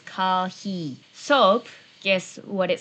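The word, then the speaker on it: コーヒー: So, coffee, guess how to pronounce it? Yes, it's kahi.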